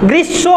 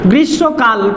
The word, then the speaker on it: গ্রীষ্ম: ওকারান্ত গ্রীষ্ম এবং সাথে যেহেতু ম ফলা উচ্চারণ হলো না এখানে তার জন্য এখানে এটা অনুনাসিক হবে দ্বিত্ব হয়েছে কিন্তু উচ্চারণ তো হয়নি মত উচ্চারণ হয়নি গ্রীষ্ম হয় না গ্রীষ্ম হয় মটা উচ্চারণ হয়নি